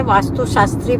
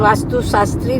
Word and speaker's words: वास्तु शास्त्र: मैं तूने वास्तु शास्त्री बोला वो उसके लिए बोल रही हूं। वास्तु शास्त्री नहीं बोलते। वास्तु शास्त्र बोलते हैं।